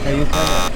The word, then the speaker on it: Ayutthaya: Ayutthaya.